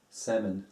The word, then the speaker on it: salmon: yeah theater iron iron salmon salmon no l really that sounds weird and iron iron is also